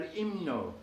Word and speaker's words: himno: The H in Spanish is always silent unless it's together with the C forming the ch sound. But when you see an H alone, it's usually not pronounced. It doesn't even lengthen the vowel or anything else. It's just there for space, really. El himno.